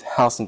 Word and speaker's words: Houston: It was it's been it's it's spelled like Houston County, but it's Hston County, Georgia.